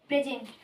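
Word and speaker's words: present: তখন উচ্চারণটা হবে উচ্চারণটা হবে বরকিঞ্জ তখন এর উচ্চারণটা হবে যেমন প্রেজেন্ট পি আর ই এস ই এনটি প্রেজেন্ট প্রেজেন্টের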